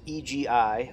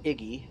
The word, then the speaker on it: EGI: Uh, and the A10 C itself runs off the embedded GPS INS navigation system often pronounced EGI or Iggy uh and is provides accurate worldwide navigation capability as well as attitude and steering information.